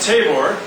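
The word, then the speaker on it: Tabor: and then there's Mount hore sorry sorry Mount tavore find that north of that see hold on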